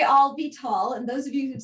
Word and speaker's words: Avital: to say my name siri actually thinks my name is all be tall and you could just say i'll be tall and those of you